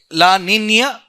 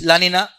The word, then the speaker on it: La Niña: Okay, La Niña and El Nino, correct pronunciation. But normally everybody says La Nina, El Nino.